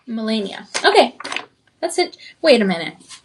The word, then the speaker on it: Melania: It says to pronounce as M. M u H. Melania.